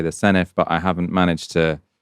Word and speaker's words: Senedd: I used to say the Senedd, now I say the Senedd, but I haven't managed to properly internalise that the D is pronounced for in Welsh.